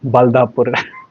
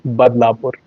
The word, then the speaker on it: Badlapur: been told is called uh Badlapur which I mispronounce as Balapur but it's not Balapur it's Bapur and it's um it's probably one and a half hour distance from Mumbai.